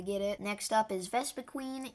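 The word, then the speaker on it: Vespiquen: up is vesa queen and I know some people say VES Quin but honestly I'm I'm just going to say it that is not the right way to pronounce it there is Queen in the name I don't understand why some people say vesa Quinn but yeah anyways besides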